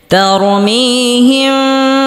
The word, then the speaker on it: ترميهم: بحجارة من سجيل ترميهم بحجارة من سجيل এখানে তরমিহিম হবে না, তারমিহিম এখানে গুন্না আছে, গুন্না করতে হবে। বিহিজারাতিম এখানে একটি গুন্না রয়েছে, গুন্না করতে হবে। মিন সিজ্জিল এখানে একটি গুন্না রয়েছে, গুন্না করতে হবে। সিজ্জিল তারমিহিম বিহিজারাতিম মিন সিজ্জিল ترميهم بحجارة من سجيل ترميهم